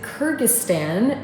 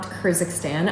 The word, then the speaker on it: Kyrgyzstan: It is Kyrgyzstan, not Kyrgyzstan.